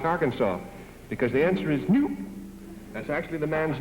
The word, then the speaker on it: Knoop: Because the answer is Knoop. That's actually the man's name, Warner Knoop. It's spelled K-N-O-O-P.